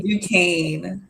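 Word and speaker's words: Duquesne: Dukane. Dukane. Okay. The S the U S is silent.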